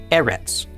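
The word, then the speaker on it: ארץ: The olive with the sele is pronounced e. The r is r. The sele is e. And the final tadi is t. Altogether this is pronounced e rtets. Erits.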